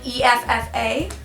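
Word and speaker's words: Aoife: sea of bitterness and a good gayc name pronounced like e FFA I think that would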